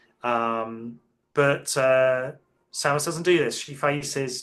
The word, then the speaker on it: Samus: We at the start of the game, Samus Aran. Apparently, that is how it's pronounced.